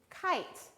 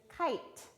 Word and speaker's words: kite: That E makes the I say its name, and then that E is silent. So that word is kite.